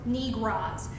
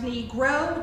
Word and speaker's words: Negro: essentially were intransigent, quote, Negroes, N-I-G-R-A-H, with a hard southern drawl. Daisy Bates immediately snapped back and said, "Mr. Catlett, the word is pronounced Negro, not Negro."